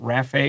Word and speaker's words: Rafe: I had a friend named Rafe when I was a kid, spelled the same way. So we always check the pronunciation, and it's Rafe here.